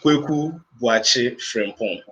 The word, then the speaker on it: Kwaku Boakye Frempong: First, the pronunciation of the name. Yes, Yeah, yes. it's Kwaku Boakye Frempong.